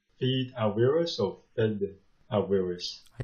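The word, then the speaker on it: Fede Álvarez: only well reviewed, I guess, how do you pronounce his name? Fede Alverez or Fede Alverez? I think it's Fede.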